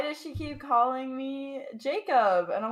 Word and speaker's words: Jackob: weird for saying that it's Jacob not Jacob ugh weird like Kelsey